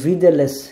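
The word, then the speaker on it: widelec: এরপরে ডাব্লিউ একটু আগে বললাম যে ডাব্লিউ এর উচ্চারণ ওরা ভির মতো করে, সো ভি, এবং ভি দেলেস, এই যে সি, সির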